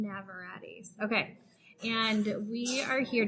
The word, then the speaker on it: Navarrete: Navarrete's Tex-Mexican food. M. Navarrete's.